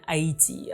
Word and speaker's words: Haiti: I'll probably oscillate between the pronunciation Haiti and Aayiti. Uh, I grew up saying I and so it sounds more natural to me, but I know that in English it's Haiti.